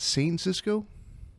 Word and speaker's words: Saincisco: Is it St. Cisco? Oh, wow. You actually nailed it in one try.